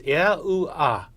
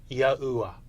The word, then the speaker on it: Yahuwah: So, all 4 letters in God's sacred name were expressed in their vowel forms.